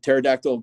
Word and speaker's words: pterodactyl: Pterodactyl P is silent.